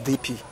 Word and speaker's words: DP: Some people call it DOP, but it's the real pronunciation is DP.